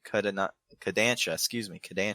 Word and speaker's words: Kodansha: Toei Animation, Shogakukan, Shueisha Productions, Shine Animation, and Kodansha, that's how you pronounce it, by the year 2022.